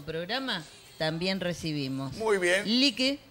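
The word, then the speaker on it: Lykke: Lique, que se escribe L-Y-K-K-E, Essence en inglés, Candles.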